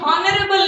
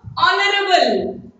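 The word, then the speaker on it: honourable: गोटे word use होची सेटा होची ऑनरेबल नै एठी मध्ये एच टा साइलेंट यूज होबो माने पूरा साइलेंट रहियो एटू स्टार्ट होबो ऑनरेबल एमिति केत्रो वर्ड रे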